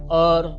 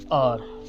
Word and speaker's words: our: कुछ लोग आवर पढ़ते हैं, कुछ लोग ओवर भी कह देते हैं, बट अपनी अपनी प्रोनाउंसिएशन एसेंस है। और whenever I read that, I always pronounced R within our hearts, हमारे दिलों में।